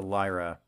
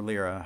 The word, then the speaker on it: Lyra: The Derpy, the Octavia, the Nyx, and the Lyra, or Lyra, however you prefer to pronounce it, is all fan art.